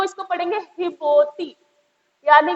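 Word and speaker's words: Djibouti: पाते, मतलब एक तो इसे डी बोती पढ़ेंगे नहीं, गलत है, डी तो साइलेंट है। और ये जो जेड है ना, अफ्रीका में जे का साउंड जो होता है एच होता है। अफ्रीकन्स जो है वो जे को एच के साउंड में पढ़ते हैं, ठीक है, जे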